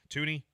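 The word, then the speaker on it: Thuney: Tooney.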